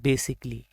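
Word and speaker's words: basically: अक्सर इसको wrong pronounce करते हैं इस वर्ड को बेसिकली बोल के, बट इसकी जो राइट प्रोनाउंसिएशन है वो है बेसिकली। ए इसमें प्रोनाउंस नहीं होता बेसिकली, ख़ास तौर पर।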